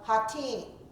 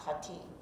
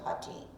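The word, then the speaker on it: Hattin: the Crusaders at the Battle of hatim and when you were in the area of the Galilee oh yes the team h-a-t-t-i-n mispronounced hatim when you were on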